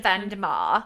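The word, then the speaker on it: Vandemar: I end up saying, so the reason why I say Mr. Croup and Mr. Vandermeer. Is that how they say it? It's how Neil Gaiman says it in the Audible book, because he actually is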